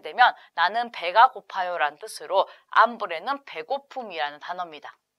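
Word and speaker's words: hambre: 스페인어로 브레라 합니다 땡구 암브레 하게 되면 나는 배가 고파요라는 표현 이고요 발음 하실 때 여기 체라는 글자는 발음이 되지 않기 때문에 묵음으로 처리를 하셔야 되죠 그래서 땡고 브레라 하게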